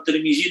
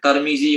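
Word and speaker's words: ترمذي: Jadi guru dia tahu tak dalam hadis At-Tirmizi, 3 cara baca, Tarmizi boleh, Tirmizi boleh, Turmuzi pun boleh.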